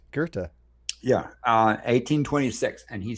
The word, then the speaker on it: Goethe: You pronounced it right, Goethe.